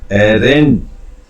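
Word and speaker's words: Arendt: As philosopher हाना, एक philosopher हाना एरेंट, इसमें D silent रहता है दोस्तों।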